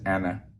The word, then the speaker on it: أنا: And so me or I is Anna, like the woman's name Anna.